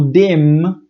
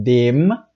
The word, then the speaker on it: dem: na hora de pronunciar o dema tem que fechar a boca então dema e o denis a